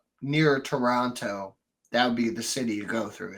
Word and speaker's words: Toronto: Toronto they don't say Orono right exactly it's a te a te is there so say it as a t yeah yeah anyway moving